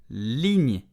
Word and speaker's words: ligne: Ligne, it means line, okay? So, ligne, slowly, ligne, very slow, ligne. At normal speed, ligne. The li, okay, li, then the gn, ligne.